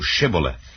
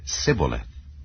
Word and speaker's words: shibboleth: said they unto him say now shibboleth and he said sibilith for he could not frame to pronounce it right then they took him